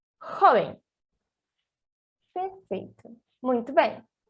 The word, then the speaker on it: joven: Recapitulando, o som do J em espanhol é igual ao som do R de rato em português, certo?